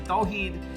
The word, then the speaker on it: Tawheed: I went by my middle name, Tweed, and you don't even pronounce it as Tweed, and no one else could pronounce it. It's actually Tawheed, and it was just, my identity was all messed.